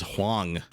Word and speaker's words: Hwang: And I think a lot of you pointed out that I'm pronouncing Hwang's name wrong. It is Huang. So I'm going to say Huang.